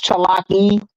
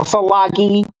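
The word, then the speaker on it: ᏣᎳᎩ: classed the Aniawea people as Cherokee because they couldn't pronounce Chalaki or Salagi.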